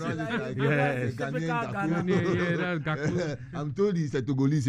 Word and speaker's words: Gakpo: I like the way you pronounce it. Yes. That's Gakpo.